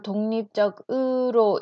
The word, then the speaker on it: 독립적으로: 듣기로 나올 때 여러분들은 독, 립, 적 이렇게 글씨로만 봐 놓으면 이 단어를 독립적, 아이고, 이렇게 독립적이라고 발음을 하면 이 단어인 줄 모를 수 있어요. 그래서 여기에다가 또 독립적으로 이렇게 붙으면 연음되죠.